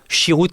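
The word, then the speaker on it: sherut: Chiroute, comme ça se prononce, vous allez tomber dessus.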